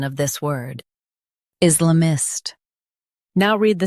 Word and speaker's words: Islamist: Islamist Stress is and keep la mist soft. Is la mist.